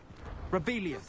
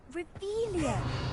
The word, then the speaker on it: Revelio: Rebellion. Saying it wrong. Ugh, Revelia. Much better.